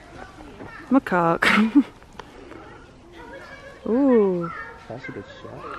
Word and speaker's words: macaque: Marek? Macaque. Still say it wrong. It's a macaque, guys.